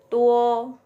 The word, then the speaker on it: duo: Tuo bukan duo ya, ini bacanya ya. Pinyinnya tuo.